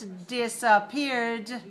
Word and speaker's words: disappeared: And the past tense disappeared, also 3 syllables. We add the d, but we don't add another syllable. Disappeared. 3 syllables, stress the 3rd syllable.